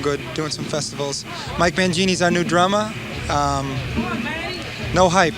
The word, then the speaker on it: Mangini: You've got your new drummer, Mike Mangini. Like That's the correct pronunciation.